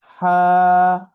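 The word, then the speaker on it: ح: তো হা এই হরফের নাম হা। হার উচ্চারণ হচ্ছে কণ্ঠনালীর মধ্যখান হতে আওয়াজকে চাপ দিয়ে হা, হা, হা।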